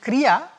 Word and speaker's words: Kriya: And Kriya has two syllables, Kri and Ya.